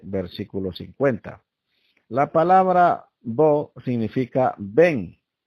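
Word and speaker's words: בוא: O sea, la palabra hebrea que ha sido traducida como preséntate es bo, así se pronuncia, bo, que significa ven.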